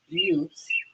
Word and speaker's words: Butte: Okay, I just love saying this because it's Butte, but it's spelled butt.